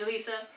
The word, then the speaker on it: Julissa: It's pronounced like Jalessa, but it's pronounced Julissa.